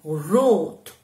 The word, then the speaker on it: rot: Sonne è una O aperta perché è seguita da due consonanti, quindi sonne aperta, mentre rot si legge stretta, rot, guardate la mia bocca, rot, rosso, che già conoscete il colore